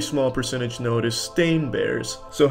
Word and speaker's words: stain: They all want to pronounce it Steen, but it's Stain.